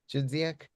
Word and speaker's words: Chudziak: Um I'm I'm very happy to uh to be hosting my friend Bartk uh from Poland and his collaborator Yarik Chzak. Did I pronounce the name correctly?